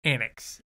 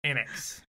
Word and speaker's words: Anax: an axe and axe like xanax but without the X without the first X and X and X all right anacs anacs got-damn all right here